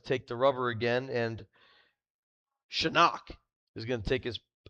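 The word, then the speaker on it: Psenak: Miles is going to take the rubber again and Shinock is going to take his take his swings now. I would never have thought p s e n a k would be pronounced Shinock.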